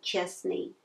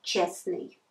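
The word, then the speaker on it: честный: so it will be pronounced it should be pronounced Chesney not just me but Chesney but when you ride we shouldn't forget about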